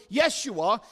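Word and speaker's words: ישוע: name Joshua now in the Hebrew it is pronounced yes you are so in other words Hebrew Yeshua is English Jesus means the Lord saves and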